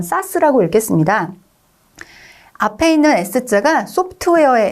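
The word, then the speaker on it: SaaS: 그러니까 대형 IT 기업이 플랫폼을 제공하는 거를 저렇게 파스다라고 읽었습니다. 그 다음 세 번째 나와 있는 AA가 중간에 들어있는 건 사스라고 읽겠습니다.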